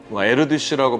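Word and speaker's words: Erdős: 에어디슈라고 하는 헝가리 태생의 수학자가 있었습니다. 에르디슈라고 발음되기도 하는데 이분에 대한 이야기가 우리 수학자 모두는 약간 미친 겁니다.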